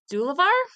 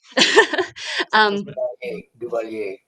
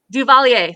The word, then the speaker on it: Duvalier: This started in 1957 when Francis, I think it's Dulavar. I am bad at pronouncing French names. I'm sorry. Duvalier. Duvalier, thank you.